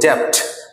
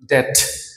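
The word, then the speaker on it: debt: তো এই যে ওয়ার্ডকে উচ্চারণের ক্ষেত্রে আমরা ডেপ্ট কখনো বলবো না, এটার উচ্চারণের ক্ষেত্রে বি সাইলেন্ট এবং উচ্চারিত হবে ডেট, just ডেট, ডেট, ডেট, right.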